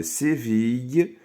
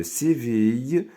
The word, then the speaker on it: Séville: Son architecture ressemble beaucoup à celle de la Giralda de Séville. لاحظوا معي هاد I 2 LE كنطقوها I. D'accord? Donc, V avec I, ville. Son architecture ressemble beaucoup à celle de Giralda de Séville en Espagne.